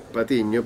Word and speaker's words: Patiño: Porque en realidad mi apellido es Patiño, pero acá nadie pronuncia la ñ.